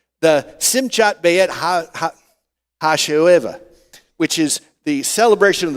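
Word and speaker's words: שמחת בית השואבה: It is pronounced the Simchat Beit Ha Ha Hasho'eva which is the celebration of the drawing of water.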